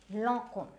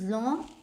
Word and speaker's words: Lancôme: Okay, so the next we come to is, now you might be pronouncing it as Lancôme or as close as you can get. Now this is Lancôme. So this is Lancôme.